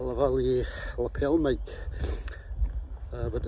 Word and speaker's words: lavalier: away but uh i've got a lavalier on the valley and i pronounce it correctly a lavalier lapel mic but it's